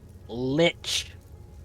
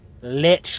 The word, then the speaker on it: lich: A twisted lich had she become, with a twisted mind. Okay, that's to the match second her time. grisly new shape. Lich. Lich like bitch.